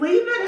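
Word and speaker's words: Leavitt: Le leave it yeah are you sure it's leave it how do you spell it it's l e a v i t t holy crap leave it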